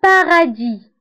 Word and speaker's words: paradis: Le paradis. Le paradis. Le paradis. وتكتب S في آخر الكلمة ولكن لا ننطقها.